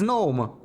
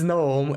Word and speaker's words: gnome: pterodactyl a pterodactyl and think the G in Gnome is just for decoration but but it is but it's it's gnome right wait how